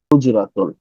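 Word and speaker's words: حُجْرَةٌ: সো হা উচ্চারণ হচ্ছে কণ্ঠনালী থেকে, এটা আমরা পরে কোনো একটা ক্লাসে শিখাই দেবো ইনশাআল্লাহ। হুজরাতুন, এটি একটি ঘর।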